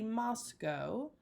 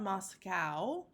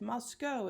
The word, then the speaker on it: Moscow: throughout this lecture and this unit that I pronounce the name of this city Moscow not Moscow Moscow is not correct Moscow is correct please join me in being picky